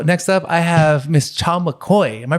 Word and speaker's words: Cha McCoy: Next up, I have Miss Cha McCoy. Am I pronouncing that correctly?